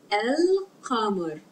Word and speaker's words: القمر: of their letters that make clam pronounce we pronounce land L Palmer then moon el kamar repeats with me cover and comer farmer el